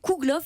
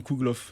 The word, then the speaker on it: Kougelhopf: google vous enfin bref la dernière syllabe se prononce plus que la première dans kougelhopf ce dépend ont dit